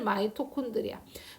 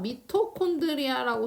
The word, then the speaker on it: 마이토콘드리아: 미토콘드리아라고 써 있는 책도 많을 거예요. 아이고, 글씨가 미토콘드리아입니다. 미토콘드리아라고 써 있는 책도 꽤 있을 거예요. 그래서 발음이 변경됐습니다. 표준호가 바뀌었어요. 그래서 지금 마이토콘드리아라고 불리고 있고요.